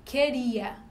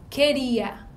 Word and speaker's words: queria: O QU, ele forma um dígrafo. A letra U, ela não é pronunciada. Queria.